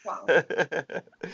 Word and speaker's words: Kuang: And quick correction, my last name is actually pronounced Kuang, as if there's a W in it. Like King Kong, but King Kuang.